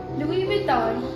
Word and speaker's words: Louis Vuitton: The correct pronunciations are Dior, Chanel, Louis Vuitton and Hermès.